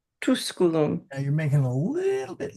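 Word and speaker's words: Tusculum: Estie quirum estum at nona said good good I watch the o and the tusulum is a that is a short u so just tuskulum You're making a little bit long, but okay.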